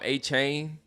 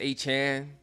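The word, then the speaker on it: Achane: I used to call him A-Chain. It's Achan.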